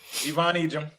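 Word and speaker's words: Yvonne Ejim: No, that one actually is pronounced Oh, Egyp. Ivon Egim.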